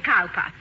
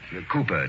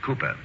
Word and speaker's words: Cowper: it Mrs Hall William Cowper Cooper darling it is spelled Cowper but pronounced Cooper Charlie only just the other okay I heard you call him Cowper well I know my